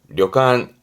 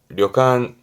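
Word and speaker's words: 旅館: 발음은 려간, 려간.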